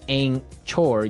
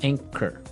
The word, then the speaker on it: anchor: But you don't pronounce the ch as you normally would, right? Another one of these really difficult uh to spell English words, right? So, you don't say ankor.